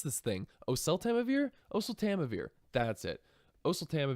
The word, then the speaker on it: oseltamivir: year gosh I can never remember how to pronounce this thing oseltamivir oh so Tama vir that's it oh so Tama vir is a